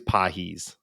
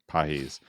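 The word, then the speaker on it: Pagés: heard his name before, it is on paper in English looks like pages, but it Pedro is Pages, yeah. yeah, Pedro Pages, but it is pronounced, I believe it's Pahis. Pahis.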